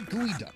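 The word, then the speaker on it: geoduck: First off, it's pronounced gooey at all. Our gooey duck will be handled by the owner, Chef Vin.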